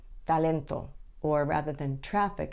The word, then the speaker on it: talento: mouth like traffic Talent the Spanish te is pronounced with your tongue just behind your top teeth so rather than Talent it's talento or rather than traffic